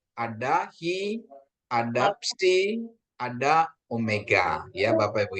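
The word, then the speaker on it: ψι: PSI ya ini psi. PSI PS psi ya. Sepdo ya. Pesepdo psikologi. Psikologi ya bukan psikologi tapi psikologi kayaknya ini harus ada harus kedengaran ya.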